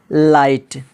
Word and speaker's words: light: इसी तरह LIGHT, GH से पहले क्या है, आई है तो यहाँ पर भी GH साइलेंट हो गया। लाइट, THIGH, थाई, यहाँ पर भी GH साइलेंट हो गया, जिसका माना होता है रन।